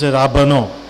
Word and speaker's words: Ravan: The name of my short stories is Ravana. In Assamese it's pronounced as Ravan.